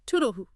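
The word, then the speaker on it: toodle-oo: The source pointed out that distinctive oo sound at the end. Yes, it's quite lighthearted. Example, toodaloo, darling, have a lovely day. Pronounced toodaloo.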